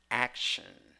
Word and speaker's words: action: So even though you have T in the spelling or in the writing, you have sh in the pronunciation.